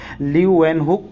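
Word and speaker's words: Leeuwenhoek: परेशान नहीं होना है, बट फाइनली इसकी प्रोनाउंसेज ल्यूवेनहुक होता है, जीवाणु की खोज किए थे।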